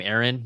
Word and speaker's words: Aaron: It's pronounced, when you see two A's, it's pronounced like a single A.